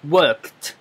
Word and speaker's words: worked: 留意一下個讀音啊，同埋 worked T 音嚟嘅讀 worked。